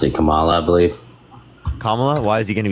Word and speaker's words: Kamala: be a better leader than how do you pronounce it Kamala I believe kamla why is he going to be better than